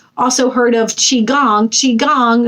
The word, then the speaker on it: Qigong: Qi Gong, spelled with a Q, Q-I, is a technique similar